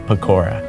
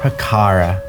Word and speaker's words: Pakara: have a sidebar with pakora it's p pakara and if you cared about me you'd remember it's pakara don't say it wrong I'm sorry that's was